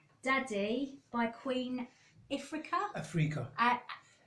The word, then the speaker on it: Ifrica: Africa. Pronounce Queen that again. Africa.